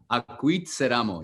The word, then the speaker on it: Acuitzeramo: conversation, which is I'm going to try to pronounce it okay, correctly. okay. Is Acuitzeramo. Acuitzeramo, yes.